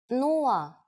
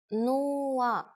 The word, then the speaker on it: нула: It's similar to one of the versions of zero in English, but with a different pronunciation. Нула. Нула.